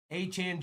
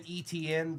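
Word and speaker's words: Etienne: It's Travis Achan Jr. and Trevor Achan for the Panthers. It's never been ETN. The entire world has been mispronouncing their name the whole time.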